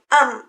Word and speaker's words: en: A Antoni aquesta N efectivament es pronuncia com una N. Però a en Pau aquesta N es pronuncia com una M. En Pau. I fixeu-hi, si diem en Xavi, aquesta N es pronuncia com una enya, en Xavi. Però en tots 3 casos, en és el mateix, un article masculí.